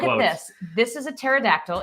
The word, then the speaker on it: pterodactyl: The remains of this dinosaur, the pterodactyl, which is spelled with a P, even though it sounds like a T, was dug up in Romania, which is true.